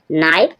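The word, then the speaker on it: knife: नोक नोक means खटखटाना नाइफ नाइफ means चाकू के साइलेंट है नो नो मींस है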